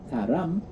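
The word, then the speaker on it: 사람: can say in korean it sounds similar to the word right at the end it is love yeah that's love yeah if you say haram with an m sound at the end that is a person a person so how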